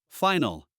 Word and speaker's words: final: In English, it's never stressed with the al. So we would say, final, annual, manual, and again, you see the final sound is very small, very insignificant. So we say final, nu, nu, final, annual, new, manual. Make it very small, very insignificant. The stress is on the other part of the word.